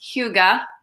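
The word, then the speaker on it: hygge: head to your head say it is it's pronounced Hyuga okay yeah it's the Danish art of well-being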